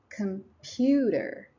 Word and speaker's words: computer: syllables in general but the second syllable is pronounced more strongly computer email email Hotel so